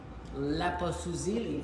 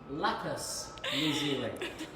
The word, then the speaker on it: lapis lazuli: Laposuzili. Did I say it right? Laposuzili. Lapis lazuli.